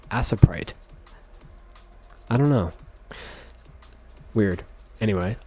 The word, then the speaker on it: Aseprite: so I'll be using aprite or I guess I I don't know everyone says aprite but it's technically spelled like aseprite I don't know weird